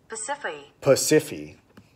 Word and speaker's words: Pasiphae: Pasiphae.